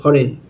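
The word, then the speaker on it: foreign: এখানে যেমন আছে ফরেন। এর পরে এন আছে। এখানে জিটা সাইলেন্ট হয়ে গেছে।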